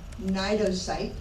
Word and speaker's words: cnidocyte: This is a cnidocyte. There's the spelling here. The C, C is silent.